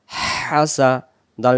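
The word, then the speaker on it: حسد: হা scene জবর সা হাসা দাল জবর দা হাসাদা দম ছেড়ে দেওয়ার জায়গা আছে জবর বাদ এটা সাকিন হবে উচ্চারণ হবে হাসাদ হাসাদ হাসাদ ওয়ামিন শাররে প্রথম থেকে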